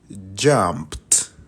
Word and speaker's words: jumped: y cómo lo pronuncio jumped s termina en sonido de T jumped muy bien Ahora